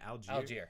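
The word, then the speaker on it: Allgeier: Algier.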